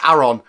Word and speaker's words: Aron: same way someone that's called Aaron or or Aon loud if it's about the same way as this but to me it's Aaron not Aon I've heard so many people say